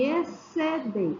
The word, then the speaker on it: exceder: Chuva, manhã, filho, nascer, desça e exceder. É como se esse X não existisse.